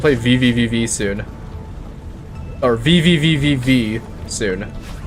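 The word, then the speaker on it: VVVVVV: VV VV soon or vvvv V soon even though it's technically like pronounced V or something it's just pronounced like one V that game seems pretty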